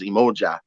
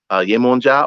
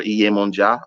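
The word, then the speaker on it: Yemọja: So, but the name you can either say is Yemonja or Iyemonja, which is broken down into three words, which is Iye, Omo, and Eja, mother, children, and fish.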